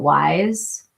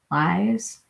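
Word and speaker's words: YSE: It's spelled YSC, but people call it Wise. Wise.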